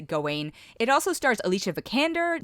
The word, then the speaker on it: Gawain: he plays sir gawain or they keep they pronounce it a bunch of different ways so but i'm going to pronounce it going it also stars alicia